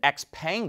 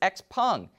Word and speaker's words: XPeng: chinese automaker x-pung we've been pronouncing it x-pang this whole time but apparently it's x-pung it's released a video